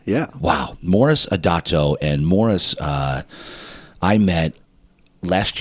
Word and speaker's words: Moris Adato: And today, my guy, Moris Adato. Did I pronounce that correctly?